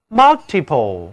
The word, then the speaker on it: multiple: multi， multi，这就是单词 multiple， multiple。